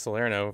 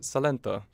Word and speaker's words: Salerno: you see that guys i pronounced salerno for the first time ever correctly instead of calling it salento first time one done